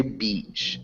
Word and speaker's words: beach: So Paolo, we'd say beach. It has a long E sound.